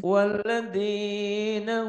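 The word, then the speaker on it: والذين: waladina Walladzina hum hum anil lagwi mu'ridun walladzina hum 'anil lagwi mu'ridun. Kemudian waladina hum liza kawa ya tinggal nyamber. liza Walladzi ini wawnya nggak dibaca, nggak ada tandanya. Walladzina hum lizzaka.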